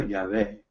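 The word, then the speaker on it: Yahweh: correcta del grandioso pero lo más correcto lo más cerca que podemos calcular es cuando encontramos el bajen en la biblia y realmente está diciendo ya ve el grandioso y vamos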